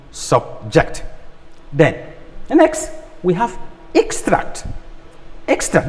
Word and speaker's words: extract: we have extract extra this is an extract now something you can see this as extract from what i've written but when i say please extract this from that information i am asking you to remove something so that's different from an extract to say extract then the next one